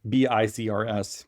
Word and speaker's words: BiCRS: BiCRS, pronounced BiCRS, is the category that graphite falls into.